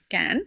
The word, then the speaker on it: Cannes: Okay, so Just Cannes.